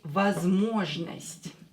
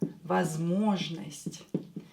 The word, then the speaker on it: возможность: So this one is not stressed, this one is not stressed, so pronounce them as A. Возможность. Возможность. Or when O is stressed, pronounce it as O. Do not change it. Возможность is a possibility.